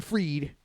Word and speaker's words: Fried: mysteriously that Sam bakeman freed it looks like he spelled it's spelled like fried I mean I know it's freed everybody said they said it's freed you know but it looks like fried you know sandbankment fried